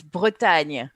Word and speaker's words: Bretagne: It's in French. It's Bretagne, but I don't think you are able to pronounce that. Bretagne? The fuck is that? Yeah. Bretagne. That sound is very French.